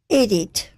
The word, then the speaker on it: Edith: How do you say Edith? Edith.